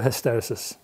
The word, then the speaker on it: hysteresis: you pronounce this word let's call the hysteresis like hysterical solo hysterical robust around here